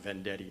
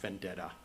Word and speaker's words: Vendetti: Macy, my name is pronounced Vendetti, not Vendetta.